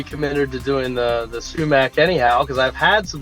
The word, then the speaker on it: sumac: a beverage sounds familiar am you saying that right sumac Ben yeah yeah you Al get some people that go shoe back but I've heard of both way as well yeah okay I'm I'm